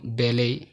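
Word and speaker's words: ballet: তোমরা একদম প্রথম কলামে দেখতে পাচ্ছ যে ফরাসি ভাষা হতে উৎপন্ন কিছু শব্দ যেমন বেলে, বুফে, শেলে, ক্রশে, গুরমে, ডিপো, ডিবার। এখানে প্রত্যেকটি শব্দের শেষের টি সাইলেন্ট।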